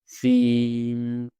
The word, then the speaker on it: श्री: तो श्री जो वर्ड है इसका आप उच्चारण कैसे करेंगे? श्री।